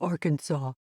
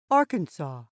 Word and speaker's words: Arkansas: whom french explorers called arkansas so arkansas is the way the french pronounced it and is closer to the native american word kansas is the english